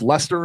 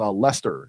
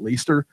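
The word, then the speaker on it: Leicester: the Chang's corrected us it is pronounced Lester so Robert you were correct it's a Lester in the UK not least her I don't care what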